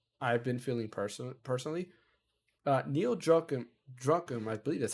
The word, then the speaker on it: Druckmann: Neil Druckmann, I believe that's how you say his name, says Druckmann.